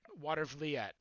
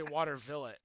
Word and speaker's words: Watervliet: Watervliet. I was about to say Watervillet.